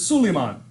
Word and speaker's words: Suleiman: Solomon is not Solomon, it's Suleiman. David is not David, but Daud.